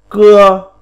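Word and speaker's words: 歌: Phiên âm tiếng Trung đọc là cưa, âm lôm đọc là ca.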